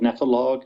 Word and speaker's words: Nephologue: The blog I have is called Nepholog, and it's spelled Nephologue.